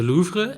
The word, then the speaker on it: Louvre: Hey, do you remember that the Louvre in Paris had... I love that you pronounce it properly.